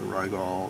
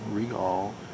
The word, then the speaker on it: Rigol: regal uh ds-1054 zed now i've heard this uh this name r-i-g-o-l pronounced in two different ways some demos from the factory the narrator says regal but uh the australians say rygall i keep wanting to